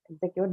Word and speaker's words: execute: But to your information, both of them, elevate and execute, both of them are stressed on the first syllable, okay?